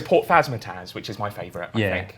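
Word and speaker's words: Phasmatys: It's not Phasmatis. actually called Phasmataz.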